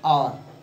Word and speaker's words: hour: An hour. H-O-U-R. He will come in an hour. When H is silent.